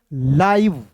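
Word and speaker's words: live: तो देखिएगा दोस्तों यहां पे इसे पढ़ेंगे लाइव। एल आई वी ई को लाइव पढ़ेंगे।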